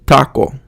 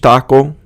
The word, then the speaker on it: taco: And if you say it correctly in Spanish, you're going to say like the word taco. You're saying it at the front of your mouth. And just making that little change, taco, bueno, it's not taco.